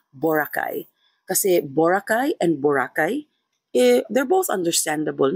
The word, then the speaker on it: Boracay: Kasi itong mga proper nouns, they should be pronounced based on the preference of the person whose name it belongs to and geographical location plays a part as well. So yeah, Boracay.